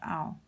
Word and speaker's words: 奥: It sounds like ao. It pronounced ao.